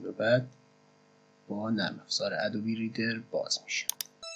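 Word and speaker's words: Adobe: باز میکنیم پوشه نرم افزار رو و ادوب ادوب ریدر رو باز میکنیم. تلفظ درست شرکت ادوبی هستش.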